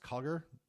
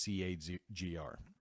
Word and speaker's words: CAGR: it's um either pronounced Koger kind of like a soft a or strong a or often just C A grr this table here just